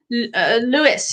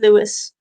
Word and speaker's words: Louis: saying that is yeah that's how lewis is the way that he's pronouncing it my name is louis um but um i